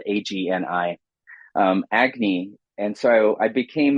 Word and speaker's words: Agni: And in 2019, I took on a role as poetry editor for a magazine out of Boston University called Agni. It's spelled Agni, Agni.